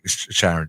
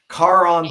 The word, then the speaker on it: Charon: I had a girlfriend named Sharon, though. Charon. Yeah, no. Can't believe I messed that up. I feel so bad. Judah, my boy, I'm so sorry. Charon 13. That's how you say it.